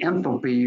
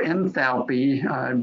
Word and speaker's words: enthalpy: The last thing that I'll talk about in the site chart would be the enthalpy or enthalpy. Different people pronounce it different ways, but that's the amount of energy that you have stored up in the airstream.